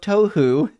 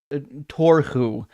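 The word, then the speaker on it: תֹּהוּ: Oh, this is a real Hebrew word, tohu, as in tohu vavohu, yes, from Genesis 1, when it says the earth was formless and void. I think he simply mispronounced it. Still nonsense. This is actually a really good guess. The Age of Tohu would be way better than the Age of Torhu, which is it's not really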